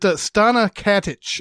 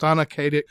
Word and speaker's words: Stana Katic: But Stana Katic, I think is how her name is pronounced. Stana Katic.